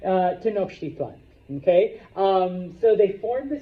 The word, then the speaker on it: Tenochtitlan: You don't need to say it right, but just don't call it Tenochtitlan. No, I've had smart-ass students. It's Titland? No, it's not Titland. All right? Tenochtitlan.